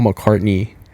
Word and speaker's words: McCartney: and and and Paul McCarthy was like right there Paul McCartney Oh how do you say it Paul McCartney Paul McCartney yeah it's not McCarthy no that's somebody else